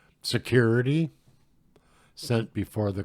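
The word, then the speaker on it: sécurité: of three oral repetitions of security pronounced as the French word security sent before the call or Tay I guess so you say that three times security security security this is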